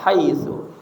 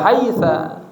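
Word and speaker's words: حَيْثُ: Haitsu fi mahalli nasbin pada mahalnya nasab nazartu saya melihat haitsu yang dibaca haita tetap haitsu ya tetap dia fi mahalli nafs nafs nasbin maf'ulun fih kadzalika ah demikian juga fain Ya.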